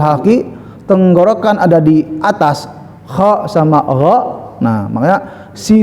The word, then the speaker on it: خ: Jadi usahakan pengucapan kha itu jangan dangkal karena ada di atas ya kha ya. Bukan kha tapi kha.